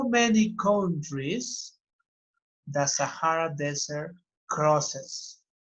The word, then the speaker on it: Sahara: a desert Sahara okay Thank You Sahara the pronunciation Sahara Desert is the biggest the biggest desert now